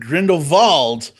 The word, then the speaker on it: Grindelwald: of grin devold and yes indeed I said Grindelwald because that's how it's pronounced in the movie everyone's calling it Grindelwald